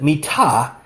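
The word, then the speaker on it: מִטָּה: spelled Mem, Tet, He, if you pronounce it Mitah, you've got a word that can mean bed.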